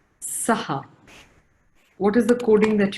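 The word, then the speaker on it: सः: So just another in terms of pronunciation, we are saying saha, but actually it's sah. The pronunciation should be sah. That's the perfect pronunciation, but we do saha just to emphasize on the ha that follows.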